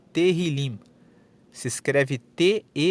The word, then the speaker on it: Tehillim: Inclusive no hebraico, no texto original, o título do livro é Tehillim. Se escreve T-E-H-I-L-I-M e a palavra Tehillim, traduzida, significa louvores.